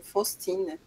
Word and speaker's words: Faustine: que é faustine e esse nome faustine né a gente poderia pronunciar em francês mesmo fostin eh é um nome francês Claro e ela tem